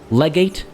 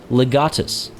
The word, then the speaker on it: legatus: asia nope it's asia legate nope it's legatus outside of very specific